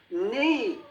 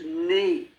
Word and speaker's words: knee: And then we get K, the silent K, knee. The K isn't pronounced at all when you pronounce knee.